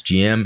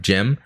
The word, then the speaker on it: GM: i've always gone by referring to the gym as gm instead of gem also chuck keith and